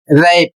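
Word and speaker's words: wrap: जैसे होता है रैप डब्ल्यू आर ए टी जिसका अर्थ होता है लपेटना।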